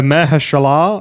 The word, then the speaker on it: Mahershala: And I've never heard his first name pronounced properly. No. So Mahershala Ali.